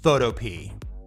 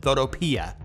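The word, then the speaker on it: Photopea: runner-up spot coming in at number two is photo p many people pronounce it photopia the developer says it's photop so that's how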